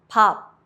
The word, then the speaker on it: 밥: 비읍, 피읍 becomes a light P. Example, 밥, rice, 앞, front. Close your lips but don't release the air like in pop.